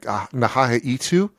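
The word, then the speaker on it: N'ha-a-itk: And they call it, I'm going to mangle the pronunciation, but it's like Nahahaitu, I think is the actual indigenous name for it.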